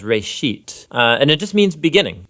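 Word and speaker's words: בראשית: Genesis Genesis comes from a Hebrew word it's pronounced race sheet and it just means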